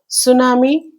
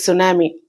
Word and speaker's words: tsunami: We all know very well what is tsunami. I think I need not explain it but you can observe the spelling also. T is there in spelling but we don't pronounce it.